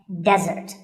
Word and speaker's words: desert: be confused with desert here the stress is on the first syllable which is de desert now i said that